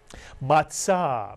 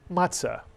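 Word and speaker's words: מצה: Matzah Mitsuyan, unleavened bread, the flat bread eaten on Passover. You'll hear people call it matzah, but the Hebrew pronunciation in Sephardic is matzah, mitsuyan. And another word like it, mitzvah.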